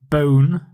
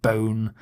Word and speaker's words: bone: note the pronunciation of bone it rhymes with own doesn't rhyme with one so it's not Bon it's bone some example sentences I